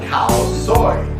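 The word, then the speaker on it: Khao soi: It's called cow soy.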